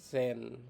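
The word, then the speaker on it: zehn: আইন কে বলে হচ্ছে নয়নট কে বলে হচ্ছে জেন মানে হচ্ছে যে আর ছয় এর মাঝে এই উচ্চারণটা হবে লেভেন কে বলে হচ্ছে এলফ কে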